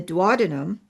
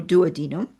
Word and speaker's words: duodenum: It happens that the pancreas, a complex gland located between the stomach and the duodenum, or duodenum, however you want to pronounce that, in addition to being